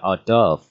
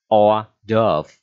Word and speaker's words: hors d'oeuvre: Thì cái từ này đọc là hors d'oeuvre, đọc lại ha, hors d'oeuvre ok chưa, hors d'oeuvre.